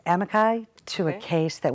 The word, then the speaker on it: amici: But I wasn't, it's pronounced amici, to a Okay.